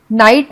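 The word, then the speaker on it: knight: ठीक है, जैसे GH नाइट में के भी अनुच्चारित अर्थात साइलेंट है।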